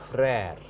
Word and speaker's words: frère: Flattened pronunciation. Per means father. Mer means mother. Frère, another word. O aksa grab er o. Frère.